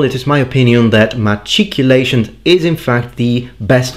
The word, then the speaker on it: machicolation: all in all it is my opinion that matriculation is in fact the best way to pronounce it so i've got to give it